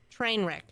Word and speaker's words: Treynwrek: It's spelled Treynwrek. Trainwreck.